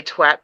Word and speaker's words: twat: was he said the best way I've heard anyone say, which is like cat but with a twa.